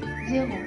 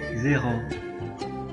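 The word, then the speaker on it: zéro: disebut eh exf kredi kredi cre create m verite verite zero zero okey itu kredit atau pulsa k itu teriakan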